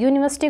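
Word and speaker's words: university: have dash यूनिवर्सिटी degree अब यू मत देख लेना कि वोल आ गया नहीं यूनिवर्सिटी को हम य से लिखेंगे यूनिवर्सिटी यूनिवर्सिटी ऐसे व्यंजन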